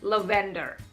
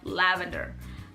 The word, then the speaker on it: lavender: that I used to say levander instead of lavender I used to say